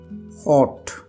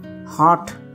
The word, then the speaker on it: hot: तो इसको कैसे उच्चारण किया जाएगा? हॉट, HOT, हॉट। हाँ, कहीं कहीं इसको जो अमेरिकन होता है, यूएस के तरीका होता है, वो हार्ट बोलते हैं उसको।